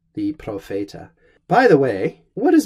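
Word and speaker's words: propheta: question put all Fayette ah this is a long e Profeta s2 and that's the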